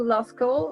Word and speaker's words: Lascaux: I'm not pronouncing that right. L-A-S. Lascaux.